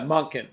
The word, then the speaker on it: Monken: Yeah, Monken. So it's like Monk and then in.